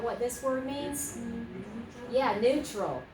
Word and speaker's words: neutral: Neutral. Okay, let's try it. Neutral. Not neutral, but neutral. Two syllables, that's it.